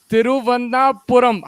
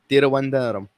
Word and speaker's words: Thiruvananthapuram: are going to be in Guwahati, Hyderabad, and Thiruvananthapuram? How do you say Trivandrum? This is Trivandrum, right? Yeah, Trivandrum. How do you say it? Thiruvananthapuram.